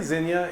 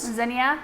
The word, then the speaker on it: zinnia: Do some people say zinnia in 3 syllables? Zinnia? Zinnia? Which, is that proper? I don't know. I find myself saying it both ways. Like, every once in a while I see a zinnia and it surprises me. It takes me by surprise. Yeah. But zinnia is how I zinnia. Zinnia. It's like 2 syllable is usually how you say it.